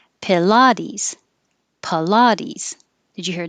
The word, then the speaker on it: Pilates: Pilates. Pilates. Did you hear a difference? It's very hard. Pilates. Pilates. You really should hear is the the la, because that's what's being emphasized and stretched.